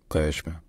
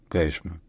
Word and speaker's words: Qeshm: In Persian, the name of the island is pronounced Qeshm. The Q sound is like a G sound, as in game, but deeper in the throat. So it's Qeshm. Qeshm. Qeshm.